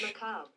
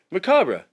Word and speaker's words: macabre: Macabre. Macabre.